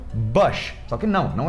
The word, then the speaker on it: Bush: o ex-presidente dos Estados Unidos, que é o Bush.